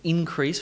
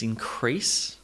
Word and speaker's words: increase: Feel free to pause the video and practice saying increase versus increase. Increase versus increase. And to you this might feel a little bit strange, but I promise you, if you're making those syllables, those stressed syllables slightly longer and louder, that's it. That is the key to intelligibility.